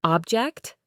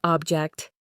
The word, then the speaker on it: object: Think about the words present, a gift, and present, to give, or object, a thing, and object, to disagree.